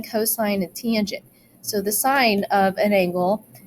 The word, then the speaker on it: cos: So even though it says cos, you don't pronounce it cos, you pronounce it cosine.